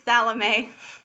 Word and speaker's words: Salome: we're gonna start again with the interview with Salome. So I'd like to just share a little bit of information with all of you about her. Salome is actually Oh, a it's that. what? Oh, it's Salome.